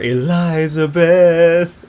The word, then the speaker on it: Elizabeth: released their first signal elizabeth or elizabeth if you want to use his pronunciation ghost released their first